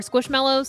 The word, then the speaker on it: Squishmallows: I like Squishables I think they're fun or squishmallows that's how you say it yeah um I